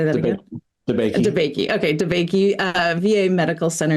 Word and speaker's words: DeBakey: DeBakey.